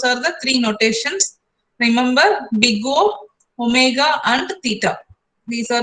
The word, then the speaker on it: Big O: Big O. OH means you have to pronounce it also as big O. Don't say it as O.